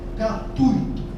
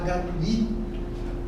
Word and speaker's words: gratuito: Coloquei de propó gratuito. Já ouvi muita gente falar gratuito. Para nós pessoas de português dói o ouvido. Não existe gratuito. É gratuito. Só gratuito está errado.